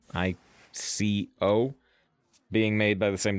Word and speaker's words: ICO: We were talking about the game, I think it's pronounced Eco. ICO.